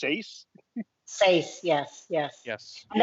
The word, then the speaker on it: Seis: It's pronounced S, not pronounced. It's spelled SEIS, which I believe that's Sace.